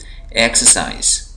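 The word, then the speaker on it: exercise: देक पढ़ रहा हूं यहां देखिए एक्सरसाइज एक्सरसाइज एक्सरसाइज यहां पर मैं किसको दे रहा हूं यहां पर मैं दे रहा हूं साइज को एक्सरसाइज इसी तरह यहां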